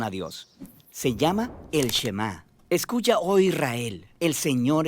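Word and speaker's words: שְׁמַע: Oye o escucha Y en hebreo se pronuncia shemá de ahí es de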